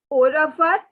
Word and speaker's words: au revoir: So see, when you see the two words, they are together pronounced as au revoir. But since the French people say it so quickly that all we can hear is au revoir. So you will also say it like au revoir.